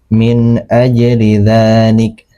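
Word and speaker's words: مِنْ أَجْلِ ذَٰلِكَ: Nah, nun di sini dibaca jelas, tidak disamarkan, tidak didengungkan karena dia bertemu dengan huruf alif. Alif ini termasuk huruf ee tenggorokan. Jadi cara membacanya min ajli dzalik ya.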